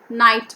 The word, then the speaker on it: knight: silent knees okay knees knight g h is silent here knight we say t h